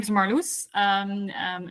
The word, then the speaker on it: Marloes: yeah my name is marus um um it's a very Dutch name and that's why I pronounce it now so everyone knows how to pronounce it uh I um live